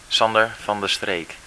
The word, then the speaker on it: Sander van de Streek: Okay, van der Streek, what's the correct pronunciation of your name? Sander van der Streek.